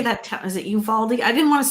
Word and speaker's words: Uvalde: Is it Uvalde? I didn't want to say it because I don't want to say it. Uvalde. Yeah, that's right. Uvalde.